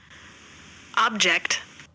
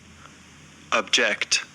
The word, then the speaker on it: object: Next देखते हैं object, ऑब्जेक्ट, ऑब्जेक्ट, जेक्ट word हल्का है, ओब अलग है, ओब पर स्ट्रेस है. यू विल स्पीक, ओब को कैसे बोलने वाले हैं, स्पीक लाउडली, ऑब्जेक्ट. और यहाँ पर देखो object, ऑब्जेक्ट, ऑब्जेक्ट, अब पर स्ट्रेस कम है, जेक्ट पर ज्यादा है, ऑब्जेक्ट.